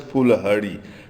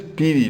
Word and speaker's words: Piri: So, and piri has been mispronounced as Fulhari. 12 major hardships is piri.